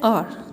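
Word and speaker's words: hour: एक और एग्जाम्पल है, यहाँ पर है आर, तो इसको हम हार नहीं बोलेंगे, इसको बोलते हैं आर, जिसका मीनिंग होता है घंटा।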